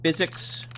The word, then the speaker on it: PhysX: It's a problem with the physics. There's a piece of software that Bethesda licensed from NVIDIA called PhysX, or you pronounce it physics.